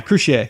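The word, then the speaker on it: Croucier: bass player, I don't even know how to pronounce his name. But it's Juan Crucier? Yeah, Crucier.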